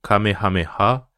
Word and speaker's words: Kamehameha: Le Kamehameha, prononcé à la japonaise le Kamehameha, c'est une technique fictive créée par Akira Toriyama dans le manga Dragon Ball, en 1984.